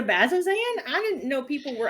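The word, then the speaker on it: Bazzoxan: In Bazoxen? What's Bazoxen? You mean the Bazozan?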